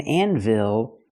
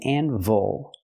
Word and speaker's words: anvil: this is an anvil again not an anvil it's called an anvil so we cannot say Anvil it's Anvil use the relax close sound this is an anvil